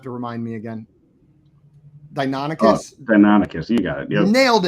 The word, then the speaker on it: Deinonychus: Deinonychus, you got it.